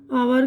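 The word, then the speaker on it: hour: अब इसके बाद यहाँ पर जो है एच की आवाज़ साइलेंट है। ये ऑनर इज्जत, आवर घंटा, टॉम्स, टॉम्स नाम है, ठीक है।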